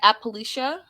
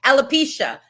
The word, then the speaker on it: alopecia: Appalachia? No, it's oh my gosh. It's Appalachia. Hold on, wait, girl. I had this in my mind. You can cut this part out, right? Alopecia. Alopecia. Alopecia.